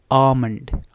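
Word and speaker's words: almond: Similarly इस word में देखें, इसको आपने एलमंड भी सुना होगा, आलमंड भी सुना होगा, आलमंड भी सुना होगा, लेकिन इसकी जो करेक्ट प्रोनाउंसिएशन है वो भी सामन की तरह जो है वो है आमंड. आमंड. तो इसमें भी एल क्या है, साइलेंट है.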